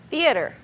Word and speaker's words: theater: 이렇게 말을 할 때 시어터 3음절인 것처럼 이야기가 되지만 사실 영어에서는 그냥 두 개로 나뉘어지죠. Theater. Yeah. 네, Just two. theater. Theater. 네, 게다가 the 그 다음에 를 또는 the 터 사이에 어를 강하게 발음하지 않는 사람이 많아요. Right.